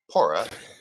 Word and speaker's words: PWORA: Wildfire OHP recovery Alliance the W is silent pora is out there is